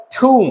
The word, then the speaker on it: tomb: इसको मैं पढ़ूंगा ठूम। क्या पढ़ूंगा? ठूम। तो यार ये लिखा हुआ तो TOMB, टॉम्ब होना चाहिए, लेकिन इसका सही उच्चारण तो ये है ही नहीं। इसका उच्चारण तो हो गया ठूम।